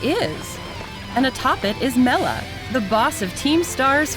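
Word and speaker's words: Mela: power it it is and atop it is Mella the boss of Team Stars fire crew oh now we know how to pronounce it it's obviously tough it's easy to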